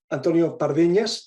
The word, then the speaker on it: Antonio Pardiñas: um really really excited to present Antonio parvinas that's the right pronunciation as to for everybody who comes from